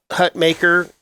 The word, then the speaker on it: Hutmacher: Yeah, Nash Hutmacher, we keep saying his name wrong. It's Hutmacher. I know. I'm sorry. Even though it's spelled and should be pronounced as Mocker correctly. I know. It's Maker. That's how he likes it pronounced.